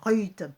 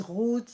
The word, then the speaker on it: Ruth: très bien, qui s'appelle Ruth. Alléluia. Il y en a qui disent Ruth, il y en a qui disent Ruth. Prononcez comme vous voulez, c'est R-U-T-H.